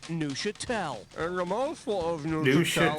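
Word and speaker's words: Neufchâtel: The cheese is pronounced Neuchâtel. And the mouthful of Neuchâtel is pronounced like this. So in other words, the F is silent.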